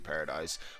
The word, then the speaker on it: Paradis: Like, obviously they want it to be a paradise, but it's a paradox because it's not a paradise. It's the complete opposite. But it's like, just taking away the E and just pronouncing it Paradis makes it so much cooler.